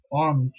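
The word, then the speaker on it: onze: Number 11, you have ons, ons. So the equivalent is as it is, ons. You do not give much importance to the last letter.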